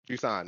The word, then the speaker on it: Jusant: So okay, so Jusant is the pronunciation. Jusant, yeah.